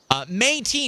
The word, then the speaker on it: Métis: Métis, not Metis. Métis. Is it Métis or Métis? I'm assuming the emphasis is on the first syllable.